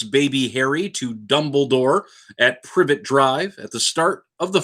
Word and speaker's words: Privet: dumble dumbledore in the private drive at the start of the harold potter movie i know it's privet drive but it's also funny when i mispronounce things and then the harold